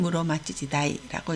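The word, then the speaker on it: 室町時代: 훈독으로 읽을 때는 무로마찌지다이라고 읽습니다.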